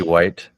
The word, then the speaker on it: Hwaights: That's how it's spelled basically. You could always do like zombie white, WIGHT.